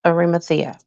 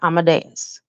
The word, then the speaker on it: Arimathea: My father name is and was Joseph Arimathea, not Amadeus. Guys, I don't know how them preachers for all these years been saying Amadeus because that's not the way that name is pronounced. And there is no S in that name.